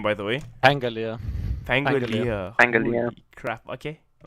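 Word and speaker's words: Pangolier: ways we got armadillo man how do you pronounce his name by the way anger Leah thank you angle crap okay the BBC science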